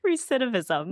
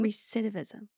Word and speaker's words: recidivism: Recidivism. Recidivism.